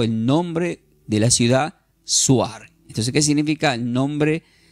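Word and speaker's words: Zoar: Por eso fue llamado el nombre de la ciudad Suar. Entonces, ¿qué significa el nombre de esa ciudad Swar que se escribe?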